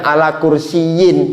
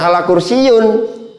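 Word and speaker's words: عَلَى كُرْسِيٍّ: Maka bacanya ala kursiyin bukan ala kursiyun.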